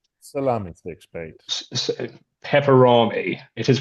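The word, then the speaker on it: Peperami: a fellow Brit uh salami sticks mate pepperami it is pronounced pepperami.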